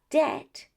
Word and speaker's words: debt: And for this reason, we only pronounce the letter T. That's why we say doubt, debt, or for the PT combination, receipt. Never receipt.